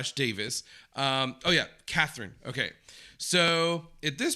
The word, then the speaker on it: Davies: So then you guys told me, no, even though it's spelled that way, in this case, Greg actually pronounces his last name Davis.